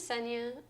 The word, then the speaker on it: Senea: My name is Senya. It rhymes with Kenya.